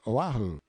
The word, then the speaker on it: Oahu: him after this island Oahu pronounced oh while he the first gate he